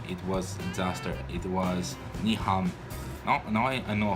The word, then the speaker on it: Nyhavn: It was ni ham.